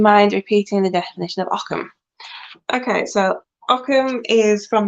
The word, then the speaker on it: Ogham: late with your mind repeating the definition of Occam okay so ockham is from the um Irish language obviously it's spelled all of them and but it's pronounced Occam um yeah it's a bit of a the